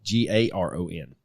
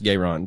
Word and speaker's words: Garon: twin brother Jesse gon g a r o n gon yeah Jessie gayron Presley or garon I guess they were from Mississippi so I'm pretty sure it's gayron but anyway anyway Presley